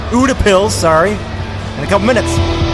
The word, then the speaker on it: Utepils: get some more beers we back at you two pills Buddha pills sorry and a couple minutes welcome back